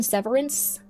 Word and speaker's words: severance: So um did you pronounce the T? Is there a T in severance?